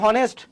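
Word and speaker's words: honest: না ওখানে কেন দেখো এখানে কিন্তু এইচটা আমাদের উচ্চারিত হচ্ছে না এটা কি আমরা বলি অনেস্ট আমরা কি হনেস্ট বলি না অনেস্ট বলি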